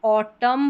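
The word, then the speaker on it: autumn: यहां पर जो एम और एन है लास्ट में तो ऑटम पढ़ते हैं। यानी कि न यहां पर साइलेंट रहता है। ऑटम न नहीं पढ़ते।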